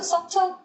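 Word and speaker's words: subtle: 여기서는 서틀. 아, 미묘한 여기서는 발음 안 해요. B가 묵음입니다. 서틀이라고 발음하면 돼요.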